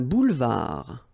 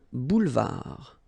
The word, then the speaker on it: boulevard: Un boulevard. Final D not pronounced. Un boulevard.